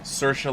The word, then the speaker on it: Saoirse: a deer shot I've heard it's pronounce Saoirse before Saoirse like inertia but she said it